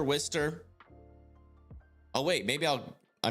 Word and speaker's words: Worcester: I thought it was Worcester. It's Worcester, Wister.